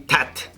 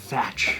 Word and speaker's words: Thach: If you Vietnamese, they say tat. Tat. Followed by no man. Every single time. How many times do you say no man in your real estate seminars? We're closing a deal. No man, sign this deal right now. But the American people, they pronounce it as how it's spelled. And so we just roll with that all these years.